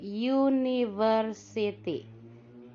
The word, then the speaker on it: university: Perhatikan untuk university kalau tulisannya ditulis pakai u ya, tetapi pengucapannya u dari y kalau di bahasa Indonesia. Itu termasuk huruf konsonan y itu. Jadi pakainya e bukan an. It is a university. Ya. Tulisannya pakai u tapi bersuara konsonan.